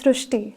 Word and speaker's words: Srushti: So in Marathi, the word Ri is pronounced as Ru. So that is why the pronunciation goes Srishti.